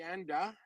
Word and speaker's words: Anda: I see Anda. Rhymes with panda.